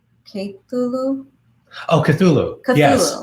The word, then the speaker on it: Cthulhu: future reference is pronounced okay cool ooh Oh Cthulhu yes Cthulhu that's the right pronounce in pronunciation okay thanks for that okay